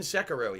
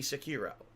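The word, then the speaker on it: Sekiro: if i haven't beaten sakurai yet it's going to be sakiro i keep saying sakura sakiro right um i don't know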